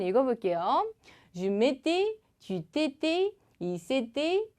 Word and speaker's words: s'était: 연음까지 주의해 주시고 약간 여기 발음은 되게 막 쥐떼떼 하면서 막 귀여운 척 하는 것 같고 그런데 연습 많이 해주세요.